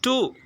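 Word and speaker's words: two: Next silent letter word W பாருங்கள், டூ. இந்த இடத்துல டூங்கிற போது அந்த வேர்டு இருக்கும் போது நம்ம மிடில் வந்து டபிள்யூ வந்திருக்கு. ஸோ அந்த டபிள்யூ நம்ம சொல்கிறோமா? இல்லை, டபிள்யூவை நம்ம ப்ரொனவுன்ஸ் பண்ணவில்லை. சரிங்களா? டூன்னு தான் சொல்கிறோம், அது சைலண்ட் விட்டுரும்.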